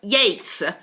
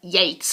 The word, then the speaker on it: Yeats: gaol like in the old times but it's pronounced jail move on to william butler yeats william butler yeats ER not eats or yeh stir or yester